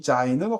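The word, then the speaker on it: זין: 일곱 번째도 비슷하게 생겼는데 자인이라고 읽고요. 이 자인은 화살표, 무기, 공격 무기를 형상화한 것인데 와우가 바브가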